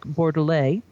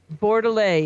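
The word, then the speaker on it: Bordelet: makers coming out of normandy and that's eric borderlay who was paris is like top sommelier for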